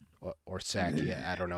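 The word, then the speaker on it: Psaki: of the lovely gen saki or sakia i don't know how to pronounce it right nutsacky um yeah i think it i think it is just sake is the pronunciation yeah i don't know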